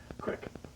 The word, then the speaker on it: creek: This is called The Same Creek Twice, or I pronounce it Crick. The Same Crick Twice.